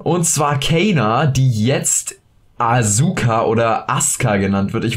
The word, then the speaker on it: Asuka: Leute haben es alle Asuka ausgesprochen. Jetzt fragt sich natürlich, warum wird das Asuka ausgesprochen? Ganz einfach, in dieser Zusammensetzung wird das U im Japanischen nicht ausgesprochen, das ist dort stumm.